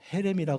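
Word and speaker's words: חרם: 이것을 히브리어로 헤렘이라 그럽니다. 헤렘이라고 발음하는데 헤렘 다 드리는 거예요.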